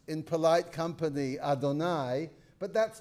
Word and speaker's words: Adonai: The first of those is pronounced in polite company, Adonai.